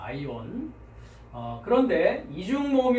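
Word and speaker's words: αἰών: 자, 두 번째는 어떻게 발음할까요? 네, 그렇습니다. 아이온 합니다. 아이온.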